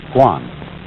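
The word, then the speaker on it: 觀: And the whole character is pronounced Guan.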